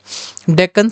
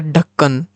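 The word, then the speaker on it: Deccan: With डेक्कन सल्तनत guys इसका pronunciation आप लोग क्या पढ़ते हो? डेक्कन पढ़ते हो, ढक्कन पढ़ते हो या फिर क्या? What is this? One ऑफ my teacher pronounce it एज अ ढक्कन ढक्कन लाइक बोतल का ढक्कन वाला हम ये सब चीज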